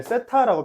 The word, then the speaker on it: 세타: 무슨 말이냐면 반지름의 길이가 R이 있고 우리가 보통 여기 끼인 각을 세타라고 표현해요. 번데기 발음 세타 맞습니다.